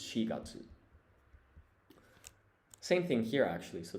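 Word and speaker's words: 四月: There are actually 2 ways to say 4 in Japanese. You say yon when you're counting, but for months of the year, the reading is shi, or that's how you pronounce it. So this is not yongatsu, it's shigatsu.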